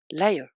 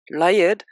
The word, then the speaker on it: Layard: C'est drôle parce que son nom, si on le prononce plus ou moins bien, ça ressemble quand même vraiment à menteur. Sir Layard, L-A-Y-A-R-D, ça ressemble phonétiquement à liar, L-I-A-R, et qui veut dire menteur.